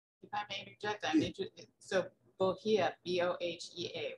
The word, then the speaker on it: bohea: If I may interject, so bohea, B-O-H-E-A, right? Yes. So it's super interesting when you Google bohea, you find entries and tea companies saying it's pronounced buhi, and that it describing it as Suchong or